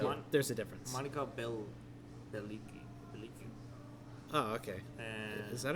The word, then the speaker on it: Bellucci: Monica Bellicci. Oh, okay. And Is that how you pronounce it? I don't know. It's Bell and then Gucci but without the G. Oh. Bellucci.